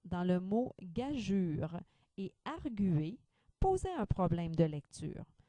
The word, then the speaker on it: arguer: bringjure aigrugure renv jure on ajoutera le tré sur le U pour le verbe arguer pour bien montrer qu'on prononce le U on mettra le tré